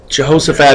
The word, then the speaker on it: Jehoshaphat: was his son who is also a Jehoshaphat Jehoshaphat is correct that's right and so we're going